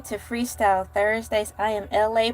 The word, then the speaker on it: ELA: I am LA, pronounced like LA, like the city.